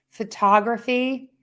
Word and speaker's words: photography: Photography is pronounced T. Let's see. Photography. Yes. I would say photography. Yeah, with the T. Photography. Photography. But then I would say photo with the flap T. Photograph with the D.